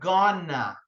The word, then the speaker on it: going to: Esse going to aqui, no dia a dia, as pessoas usam a pronúncia gonna. A pronúncia do going to sai só gonna.